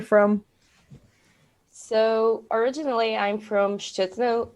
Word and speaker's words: Szczytno: And how do you pronounce that? Szczytno.